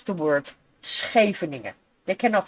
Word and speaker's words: Scheveningen: But because of the SCH pronounced after each other as a loud G, the German people cannot pronounce that G because it's not in their language. Oh, that explains a lot. So they say Scheveningen. Like a K. Scheveningen. They cannot pronounce it. Well, it sounds very different. It is indeed different. So they try to basically pronounce the G, but they can't.